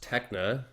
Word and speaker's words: TekXNE: So, it's pronounced techna and it's just No, no, no.